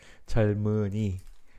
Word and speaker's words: 젊은이: Like, you know, the pronunciation. Like this double consonant, I'll say. And this, since this one is 이응, you know, this mium goes to this way. So 젊은, same thing here. Yes, 젊은이, 젊은이. That's the way we pronounce.